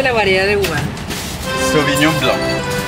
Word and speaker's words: Sauvignon Blanc: Entonces yo a los franceses, como tú que ya eres francés, ¿cómo se pronuncia la variedad de uva? Sauvignon Blanc. Sauvignon Blanc.